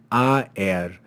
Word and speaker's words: aer: have the Latin word aer. It's two syllables because this symbol tells us that this is actually not to be read as a diphthong, but as two separate vowels.